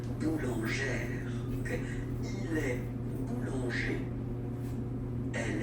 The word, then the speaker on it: boulangère: Same thing, don't insist too much on the final E, boulangère.